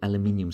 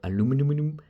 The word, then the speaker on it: aluminium: made a very little aluminium square or aluminum like the Americans say and replace that between